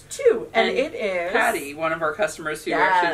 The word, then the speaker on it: Tage: like I would have said or yeah yeah Taj bullfolk but it's two and it is Patty one of our customers